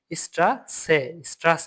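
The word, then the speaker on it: Straße: এস এটা মানে কি ডাবল এস এটা এস এর মধ্যে উচ্চারণ দিবে এইযে এস যেটা এস এর মধ্যে উচ্চারণ দিবে স্ট্রা স্ট্রা স্ট্রাসে মানে কি রাস্তা এই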